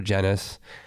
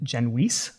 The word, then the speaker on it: Genuis: to my patients it's genus it rhymes with tennis originally it's actually an old maltese name so my father's family's from malta it was originally genwhis rhymes with fleece not